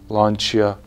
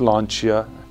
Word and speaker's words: Lancia: And it is pronounced Lancia, not Lancia, like many do, because Italians pronounce it Lancia.